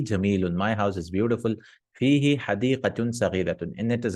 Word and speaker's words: فيه: There are some recitations of the Quran where they recite fihu or bihu like that. But for us, it sounds weird. Bihu, fihu. No, we say fihi, just for pronunciation purpose, because it's, appropriate, munasib, because this is a ya, no?